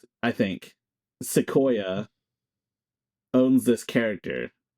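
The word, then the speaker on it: Xicoia: Well, all I know is that AI talent studio Sequoia. That's how you pronounce it, by the way. I think Sequoia owns this character.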